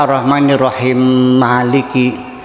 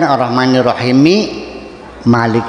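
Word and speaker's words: الرَّحْمَٰنِ الرَّحِيمِ مَالِكِ: Yaitu ketika baca arrahmanirrahim maliki arrahmanirrahim malik seharusnya kan arrahmanirrahimi malik ya bukan arrahmanirrahim malik bukan diidgamkan.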